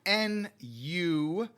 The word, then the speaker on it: Nu: So, real quick before we get to 2300 AG, there are creatures called new nu rhymes with moo brew.